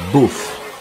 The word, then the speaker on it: Bauffe: en belgique près de tournai au circuit de bof bof ça s'écrit bea a eu ff que c'est entre